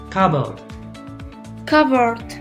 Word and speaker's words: cupboard: l again ignore it cobble covered so notice i don't pronounce the p and they say cut